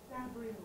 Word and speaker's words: Da Brio: I think it's not Brio, yeah? How do you pronounce this? Da Brio.